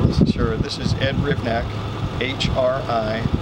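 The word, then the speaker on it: Hrivnak: Could you spell your last name and pronounce it for us? Sure. This is Ed Rivnak, H-R-I, V as in Victor, N-A-K.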